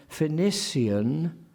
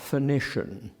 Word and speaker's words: Phoenician: Phlebas, not phlebas, for instance, phlebas, and Phoenician, not Phoenician. These are, when you set